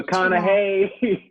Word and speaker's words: McConaughey: no, McConaughey. It's McConaughey. McConaughey. I am telling you. That's his accent. McConaughey. Like he says, all right, all right, all right. That's how he pronounces it.